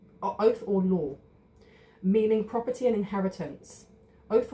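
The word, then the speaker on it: Othala: show you this way it's the pronun pronunciation which I always get wrong is O oath or law oath or law meaning property and inheritance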